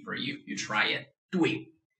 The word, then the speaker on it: 对: So for this 对, you may find the pronunciation not easy. It's not your problem.Because it's not a full spelling. The full spelling should be D-U-E-I.